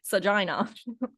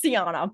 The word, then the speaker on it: Siana: guys with my name you're like how do you say it s sajina it's Siana by the way but it's okay you